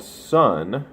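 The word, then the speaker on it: Svn: This is called Sun. It's spelled S-V-N in the, I guess, the traditional way.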